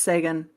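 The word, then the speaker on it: Seguin: Uh, Tyler Siguin, I always want to say it like Penguin. I know that's not right. Sean, it's Sean. Every time I say it more like Penguin, though.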